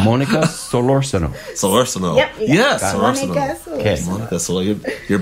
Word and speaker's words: Solorzano: Pronounce my name. Monica Solorzano. Monica Solorzano. Solorzano. Yep. Yes, Solorzano.